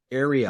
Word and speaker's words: Arielle: Now, did I get the pronunciation right? Arielle.